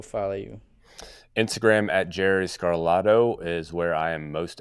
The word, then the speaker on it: Scarlato: Like Hmm. gelato, but Scarlato. Where do you want people to go follow you? Instagram at Jerry Scarlato is where I am most active.